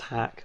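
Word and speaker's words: Haack: I think it's pronounced Hack, but it's a double A.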